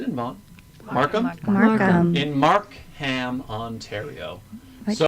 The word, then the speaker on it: Markham: In Markham, Ontario. Why'd you say it like that? That's how it's spelled, Regine.